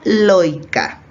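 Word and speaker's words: lloica: tengan atención a que esta palabra si bien está escrita con doble l se pronuncia lógica para que lo tengan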